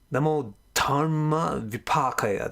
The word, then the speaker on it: Namo Dharma Vipakaya: The way the sounds smush together, it comes Namo Dharma Vipakaya.